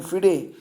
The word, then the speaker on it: FIDE: और वर्तमान में अगर हम बात करें तो फिडे, जिसको आप कहेंगे फिडे, इसका जो हेडक्वार्टर है वो लुसाने में है।